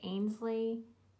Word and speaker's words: Ainsley: I know I mispronounced it last time I did. Ainsley.